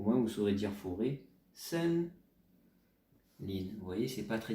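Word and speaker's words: 森林: Je vous donne la prononciation, pas obligé de le retenir, mais au moins vous saurez dire forêt. Sen Lin.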